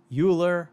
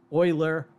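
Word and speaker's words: Euler: If I were to say uler, fermat, libnets or descartes, someone would rightly correct me and say that the pronunciations should be more like oiler, ferma, linen or decart.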